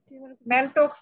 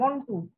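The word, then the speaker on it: Mantoux: হ্যাঁ, tuberculin test আর মন টু test, ম্যানটক্স test, ma'am ম্যানটক্স না মন টু, বানানটা ম্যানটক্স, উচ্চারণ মন টু।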